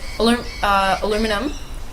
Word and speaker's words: aluminum: Aluminum. That's not the way to say it, that's the American way. There's another way. Aluminium.